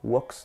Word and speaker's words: walks: Ok, walks, donc on ne prononcera pas le L.